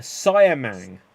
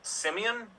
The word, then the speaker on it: siamang: rhyme with is a siamang as in a siamang gibbon a siamang gibbon so yeah I'll take wait are you saying Simeon no cyan it's not a Simeon how do you spell